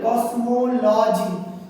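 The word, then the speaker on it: cosmology: কিন্তু এগুলো ক শুধু ক দিলেই হয়ে যাবে কসমোলজি। তাহলে মো এই উচ্চারণটা হচ্ছে ওকার আর বাকি দুটো হচ্ছে মানে অকার হচ্ছে।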